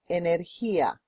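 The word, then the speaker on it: energía: say energy in Spanish now the way we pronounce energy inia repeat please Ina again inia now you try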